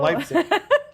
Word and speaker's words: Leipzig: I know how it's spelled, but I always thought it was lipstick. But there we go, Leipzig. Yeah, it's like lipstick. No, Leipzig.